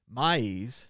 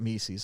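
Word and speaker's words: Mies: little more let's see maize not mises i said it wrong earlier maize directed the influential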